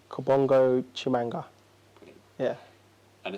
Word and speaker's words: Kabongo Tshimanga: us how did you say your full name Kabongo chimanga really yeah and it's obviously well known this